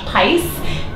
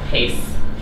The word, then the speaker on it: Pais: with my friend Josh P which rhymes with spice I always want to call you Josh P Pace I always do it's